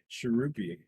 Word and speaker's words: Chhurpi: Chirupy. Chirpy? Chirpy. Hold on. Let's see. I feel like there's an actual pronunciation there somewhere because I Chirpy. saw it too. Chirpy? Shirupi. Chirpy. It's Chhurpi.